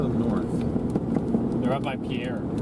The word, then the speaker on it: Pierre: Oh no, the one in Pierre is 47. Wait, does someone say tuna on pizza? It's It's It's pronounced pier. Ah. Pier Pier. Okay. Pier, South Dakota.